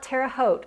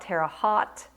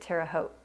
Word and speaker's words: Terre Haute: We call it Terre Haute. I hear some of you, when you're making videos, you call it Terre Haute. In Indiana, we pronounced it Terre Haute.